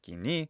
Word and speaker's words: koine: from the koine period koine by the way and monogree that's pronounced guinea in lucian pronunciation it's guinea and this means common in